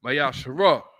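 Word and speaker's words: מעשר: Means 10th in the Hebrew, which is pronounced Mayashara. 10% of every penny of any increase the Lord gives you, give to the treasury department or teacher.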